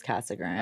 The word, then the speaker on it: Casa Grande: it like that then what wouldn't two CAG Grand people know that it's Cass Grand yeah I can't remember